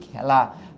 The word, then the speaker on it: খেলা: হচ্ছে এ উচ্চারিত হচ্ছে কিন্তু আমি যখন বলি খেলা হ্যা আমি যখন বলি খেলা তখন কিন্তু উচ্চারণ হয় এরকম খেলা খেলা তার মানে এই জায়গায় কিন্তু উচ্চারণটা হইল এ এই ধ্বনিটার উচ্চারণ হইছে তার মানে এখানে তো